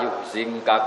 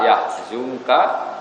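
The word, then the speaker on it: يحزنك: Makanya kita bacanya fala yahzunka qauluhum bukan fala yuhzinka.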